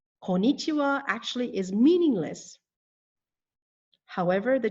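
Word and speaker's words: こんにちは: As you can see, it only has 4, and it is missing the first N. Konnichiwa. Konnichiwa actually is meaningless.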